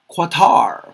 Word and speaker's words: Qatar: Qatar. That's how I pronounce it.